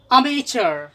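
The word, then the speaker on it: amateur: अब तीसरा वर्ड पे आइए, अमेचर।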